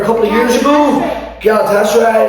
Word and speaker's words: Galatasaray: I mean, I remember a couple of years ago, Galatasaray, it's pronounced Galatasaray, you don't always pronounce it how you see it.